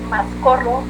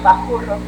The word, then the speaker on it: Mascorro: ustedes les puede sonar más Mascorro con S, que era la manera en la que le decían los españoles a un líder de los huachichiles, aunque en realidad ellos lo pronunciaban más como Bajurro.